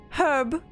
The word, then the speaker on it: herb: Herb is said with an H. Herb. You actually you pronounce the H in herb and oh.